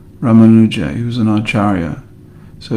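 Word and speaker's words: Ramanuja: There's a great saint known as Rammanuja. Rammanuja. He was an Acharia. So he's usually his name is usually pronounced Rammanuja Archaria or Rammanujacharia.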